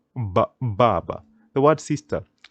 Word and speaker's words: Baba: would pronounce it as Baba so you can hear the B Baba the word sister D